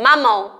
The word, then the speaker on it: mamão: E aí, quando você pronuncia a palavrinha mamão, ó, quando você fala, ó, mamão, olha como esse ão aí, ele é nasal, tá?